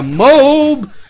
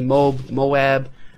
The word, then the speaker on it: MOAB: Hopefully all my tips and tricks can help you get this word that nobody can pronounce correctly. MOAB, MOAB. Whatever, it just flows naturally as MOAB for me.